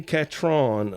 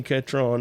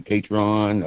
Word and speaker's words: Catron: here Danny katron now I have said your name wrong for many a year and us over here on the eastern part of the South we we probably going to keep saying it wrong but don't take no offense to it Danny how you doing today oh I'm doing great and it's like catching and I know a